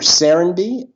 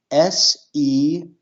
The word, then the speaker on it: Serenbe: Say the name again, or maybe spell it if you can. Sure. Serenbe, Serenbe.